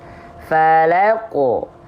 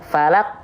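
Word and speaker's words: فلق: Falaqo. Falaqo, falaqo, gitu ya. Jangan sampai falak, falak, falak. Nah, gitu ya. Harus ada pantulannya. Sekarang, kesalahan yang sering kali terjadi ya ketika kita melafalkan pantulan pada huruf qaf.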